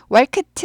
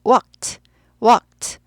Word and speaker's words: walked: 얘는 walked L이 아예 발음이 안 나요. 묵음이라고 해요. 묵음. 사전에도 발음하지 말라고 나와요. 그래서 walked 아니고 walked L은 왕무시하세요.